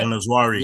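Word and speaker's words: En-Nesyri: Is it El Nezari? Is that how you say it? El Nezari, yeah.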